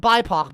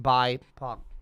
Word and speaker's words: BIPOC: Anyway, uh, it says pronounced by it says right here over here on the right pronounced bypock, not bipok, but anyway, whatever.